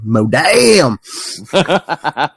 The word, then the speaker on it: Modam: Or, if you remember, gentlemen, pronounce it the right way, Modam! Modam. Gotta say it like you're from the South.